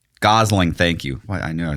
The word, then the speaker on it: Gosling: Um Ryan, is it Ryan Gossit? Ryan Gosling. Gosling. Thank you. I knew I was saying name wrong.